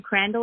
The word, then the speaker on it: Crandall: so that's good and crandall is am i pronouncing that yeah c-r-a-n-d-a-l-l and i always tell people can you crandle it oh i love it